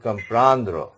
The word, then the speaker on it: comprendre: This is called comprendre.